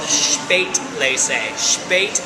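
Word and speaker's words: Spätlese: above that is called Spate leate as in late s p a t l e s eate Le andate actually it rhymes with and means late equals late Le means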